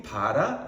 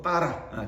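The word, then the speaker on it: בָּרָא: 그러니까 파레시트라는 건 뭐냐면 우리가 흔히 바라 이렇게 표현하지만 좀 더 정확한 발음을 한다면 보통 빠라, 창조하다.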